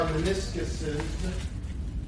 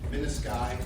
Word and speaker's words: menisci: There are meniscuses. Menisci is the actual or correct way to say that.